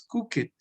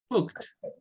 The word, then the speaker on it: cooked: No es clean it, no es work it, no es play it, no es wash it, no es cook it. No, se pronuncian como si todos terminaran con T.